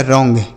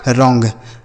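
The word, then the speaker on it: wrong: उसी तरीके से डब्ल्यू साइलेंट होता है। डब्ल्यू आर अगर एक साथ रहे तो डब्ल्यू साइलेंट होता है। ठीक है? तो यहां पर आर से बनेगा र ओ एन जी को अंग। तो इनको मिलाएंगे बनेगा रॉन्ग।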